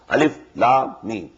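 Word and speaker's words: الم: These are pronounced separately, and so they are the broken into pieces. Not pronounced as Alif Lam Mim Alam, no. Alif Lam Mim. Alif Lam Ra Alar, no.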